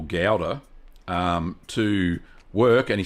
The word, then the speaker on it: Gouda: And he said, "Gouda." You got to there's a bit of a guttural type thing with the G.